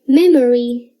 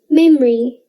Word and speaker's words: memory: chocolate we say chocolate we don't say memory we say memory you might be able to hear a slight uh sound when i say memory and chocolate and if i speak really slowly you will probably notice the uh sound but it's usually very silent try to say it